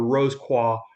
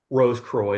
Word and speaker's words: Rose Croix: the rosy cross or the rose qua rose croy depending how you want to pronounce it.